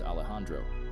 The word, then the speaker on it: Alejandro: Norman's friends include an introvert named Frankie who is a programming geek, Alejandro, pronounced as Alejandro, who is obsessed with social media and filming.